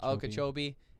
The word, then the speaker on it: Okeechobee: it was okiecho how do you say it okeechobee and then another one i hadn't heard of